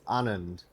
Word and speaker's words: Anand: Don't say it wrong. They say it wrong enough without you confusing them. It's Anand. Thank you.